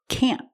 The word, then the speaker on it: can't: Don't worry about pronouncing the T, can't. We use a stop T, can't.